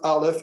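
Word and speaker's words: אלף: of like an x it's pronounced alif and it's not pronounced at all it's a silent letter it's a glottal star okay if you're writing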